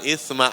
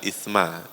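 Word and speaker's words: إثم: Fala isma alaihi maka tidak ada apa? Tidak ada isma, dosa. Ini bacanya harus tipis. Jangan isma, tapi apa? Isma.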